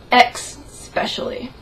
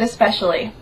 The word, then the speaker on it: especially: like me you've noticed the select few that decide to pronounce that word ex specially I'm sorry does that irritate anyone else because last time I checked there is no X in the word especially there is just an S well there's more than